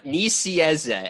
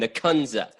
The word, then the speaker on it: Nicieza: Is that how I say it right? Nicieza. And that's not even the way it's wrong. The Americans, as he describes it, as the normal American, would call him Nikunza.